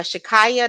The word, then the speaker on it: Shakyia: was actually leaving her um and basically uh Shakaya that's how you say it Shakaya she she